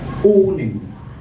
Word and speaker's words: owning: the house and also owning owning not earning or owning owning with a long sound not the short and if you're not careful with that word you might pronounce it with a short sound saying up on it instead of owning okay and then we